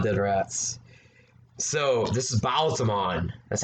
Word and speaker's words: Baalzamon: So, this is Baalzamon. That's how you say it. Baalzamon. That's how you pronounce it, for sure. Baalzamon.